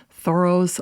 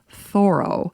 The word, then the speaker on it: Thoreau: Now, before I continue, I just want to mention as a side note that apparently the correct pronunciation of Henry David Thorough's last name is Thoro, not Thorough.